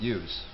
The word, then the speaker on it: yous: more than one person, you pluralize it, use. Plural, you, use, right? As of late, use has become shortened to something sounding more like is. And you don't say it that way like is, but when you put it at the end of a sentence, that's how it comes out.